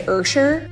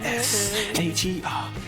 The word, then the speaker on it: Usher: Or, you know, sometimes I say Ursher, but that's not like phonetically how you pronounce, you know, so just to be sure. Yeah? Okay. Call out my name. Call me Usher.